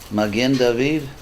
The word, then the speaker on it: Magen David: How do you say it in Hebrew? It's Magen David? Magen David. What? Yeah. Magen David. Yeah, the Shield of David.